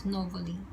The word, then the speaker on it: Novoli: Actually, it's pronounced as Novoli University.